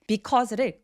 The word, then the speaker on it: because: because의 강세가 어디 와요? cause에 와요. 그러니까 be는 말할 것도 없는 그래서 because의 be는 들릴락 말락 발음하기 때문에 원어민들이 그냥 후루룩 넘겨버려서 아예 발음을 안 해버리는 지경까지 된 거예요. 그래서 because라고 열심히 발음하지 않고 cause라고 발음하는데 이걸 또 cause 너무 길게 발음하지 않아요? cause. 접속사들은 굉장히 강조해서 발음하지 않기 때문에 짧게 cause라고 표현을 많이 합니다.